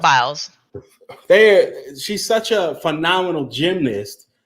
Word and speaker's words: Biles: How do you say? Biles. Just Biles.